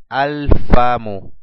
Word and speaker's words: alfamu: artículo, alef lam, decimos alfamu, alfamu, la boca. Podemos pronunciar el alef y el lam del artículo, y al final dejamos una sola dhamma en señal de la determinación, la boca.